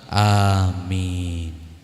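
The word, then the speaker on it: آمين: juga salah kalau baca Amin yang benar sesuai Apa yang dibaca oleh Rasul hamzahnya panjang mimnya panjang jadi A itu panjang min itu juga panjang kalau jenengnya kalau jenengan itu bacanya pendek semua artinya jadi beda Amin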